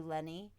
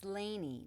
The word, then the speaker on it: Laney: "Nice to meet you, Lenny. I will see you again soon." It's Laneany, not Lenny.